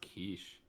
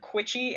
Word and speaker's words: quiche: So I think it's pronounced quiche. Quiche. K-O-R-A-S. Was it you that like told me that you pronounced it Quitchy and I knew exactly what the fuck you were talking about?